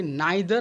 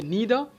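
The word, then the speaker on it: neither: इसी तरह से नाइदर अपने साथ में कंजंक्शन लेता है नॉर। इसके दोनों प्रोनाउंसिएशन बन सकते हैं, या तो बोलिए नीदर या बोलिए नाइदर।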